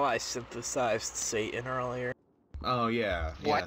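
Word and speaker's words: Seitan: You just threw a thing down there and said, this is Satan. It wasn't even pronounced like the Satan you know.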